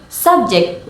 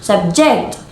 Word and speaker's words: subject: word for example example subject with stress on the first Sy is a noun and subject with stress on the second Sy is a verb now let's move on